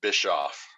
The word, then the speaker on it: Bischoff: It's Bischoff, and it gets pronounced Bischoff and Bischoff and every other iteration you can possibly think of, but it is pronounced Bischoff. People out here in the South would say biscuit.